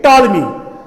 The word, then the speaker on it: Ptolemy: अब बात है, इसी तरह पोटालमी को हम पोटालमी नहीं कहते हैं, इसको टालमी कहते हैं। प साइलेंट रहता है, इसीलिए जो भी वर्ड साइलेंट रहेगा उसको हम फोनेटिक्स में नहीं रिप्रेजेंट करते हैं।